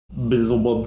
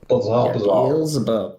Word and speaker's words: Beelzebub: For the Bizzlebub. Oh yeah. It goes Wait. Beelzebub. Beelzebub. That's how you say it.